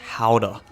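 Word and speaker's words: Gouda: cheese market would run fun fact GAA is from Netherlands and we went to the town it's actually pronounced howder but we had fresh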